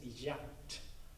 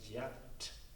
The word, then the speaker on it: Yat: His name is pronounced in Swedish Yat. So that's, and then he spelled it so it sounded like Yat in English, as close as possible. So Y-A-T, Yat in English.